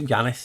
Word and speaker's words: Janus: Janus is Janus. You have to pronounce it with a Y, not a J.